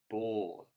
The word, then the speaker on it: ball: we've been looking at think about this word here ball that's definitely got an o in the middle which is actually just being made with an a by itself which is very unusual and we generally only find in the o sound when it's making an all sound when it's got an l after it next one is in